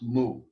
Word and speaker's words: mu: helps to remember mu that's the way it's pronounced mu it is the m sound and when we